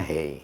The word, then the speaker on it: hai: Bacanya hai itu bacanya hey.